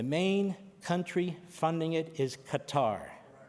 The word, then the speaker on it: Qatar: The main country funding it is Qatar. Q A T A I think they changed the pronunciation but it's always Qatar to me.